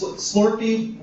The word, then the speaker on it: Slurpee: What I've noticed about 7-Elevens, especially in Chicago where I'm from, it's Slurpee rhymes with summer.